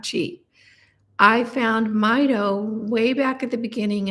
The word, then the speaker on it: Mito: me is my and I always pronounced it Mito and you know what I found that that was wrong it's Mido for mitochondria which makes total sense I use the Mito